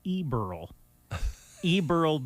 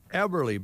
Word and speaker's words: Eberly: to pronounce names so i recorded the ad as eberl eberle boot and saddle it didn't i think it ran once and the phone was ringing oh boy so i i learned by that how to pronounce eberly everly butt everly celebrating their